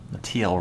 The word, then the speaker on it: Teal: Teal rhymes with real.